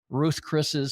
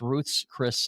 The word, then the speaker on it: Ruth's Chris: Everybody wants to call it Ruth Chris's Steakhouse. No, it's Ruth's Chris Steakhouse.